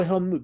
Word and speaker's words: Helmut: his name right now I used to call him helmet but I was corrected now I call Helmut because I'm a cultured